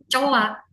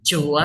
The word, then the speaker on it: 좋아: Makanya jangan coa, tapi joa hamnida.